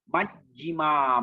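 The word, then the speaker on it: majjhima: Majjima, Majjima. Don't say Majjima, Majjima, Majjima. You must pause at double J.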